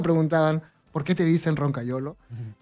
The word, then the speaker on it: Roncagliolo: un poquito el tema cuál es la producción correcta en italiano es algo así como roncagliolo ya pero eso se